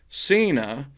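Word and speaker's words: Seyna: you do that that is actually from john cena but it's not spelled like the john cena right the john cena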